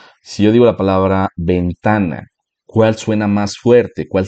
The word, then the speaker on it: ventana: Y aunque la mayoría tal vez pueda identificar que yo estoy diciendo ventana y que la segunda sílaba ta es la sílaba tónica, mucha gente puede no escucharlo.